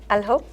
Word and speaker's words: الحب: Alhob.